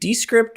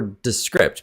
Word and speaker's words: Descript: Is it Descript or Descript? Because I also want to pronounce it correctly.